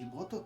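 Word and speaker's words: 妹: The pattern for this word Imoto. is tail high. So the Imoto. accent is on the last molar.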